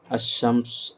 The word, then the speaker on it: الشمس: ان کے قبل یعنی ان سے پہلے جب عربی کا الف لام آتا ہے تو لام کا تلفظ نہیں ہوتا ہے اور لام کے بعد کا حرف مشدد ہو جاتا ہے، جیسے الشمس، التاریخ. تو اسی لیے حروف شمسی بولتے ہیں.